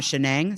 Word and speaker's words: Shenang: Shenang Hu, and I think I've been pronouncing his name wrong all these years, but Prasad told me it's Shenang and not Shenang.